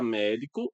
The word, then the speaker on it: médico: No caso da palavra médico, a sílaba tônica é essa e por uma regra de acentuação gráfica, recebe o acento gráfico.